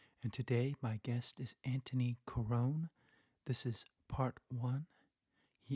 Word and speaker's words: Antoni Corone: host Justin YZ and today my guest is Anthony Corone this is part one he is an actor